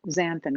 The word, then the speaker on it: xanthan: questions about it but it's called xanthan gum which is spelled x-a-n-t-h-a-n xanthan so it's um a